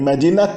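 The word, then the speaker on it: مدينة: O T final do tamarbuta volta a ser pronunciado quando ela é seguida de uma palavra que é um complemento idafa, um complemento genitivo.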